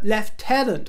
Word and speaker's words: lieutenant: Jason canal and he has been made a left tenant of the royal Victorian order yes in the Kingdom he pronounced Lieutenant lieutenant or anybody in the know